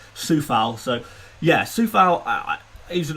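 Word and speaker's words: Coufal: is uh vladimir soufal i've been calling him kufal for for a while now it's apparently pronounced suffolk so yeah soufal i is looking amazing i've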